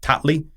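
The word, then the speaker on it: Tatli: think it's called he it's pronounced tatle he uh he went yeah he went over to um to TL's backyard and actually beat tatley um so you know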